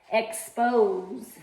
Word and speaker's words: expose: If I have the word expose, so pose. So that silent E is telling the O, say your name, say a long vowel, expose, instead of being expose, right? Which is not a word.